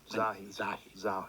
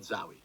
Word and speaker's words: Zahi: Zahi, not Zawi.